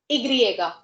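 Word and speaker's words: i griega: But according to them, Y की क्या pronunciation होती है? Igriega, right? So according to them, they do not know what Y is. They know Igriega.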